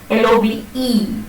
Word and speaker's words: love: Take this word love, L-O-V-E. So does it occur in the final position? Yes, because the pronunciation of the word is love.